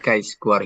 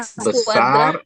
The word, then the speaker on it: chi-square: nilai X, chi-square itu Wah, X besar kuadrat, atau X sama kuadrat, dengan chi-square double.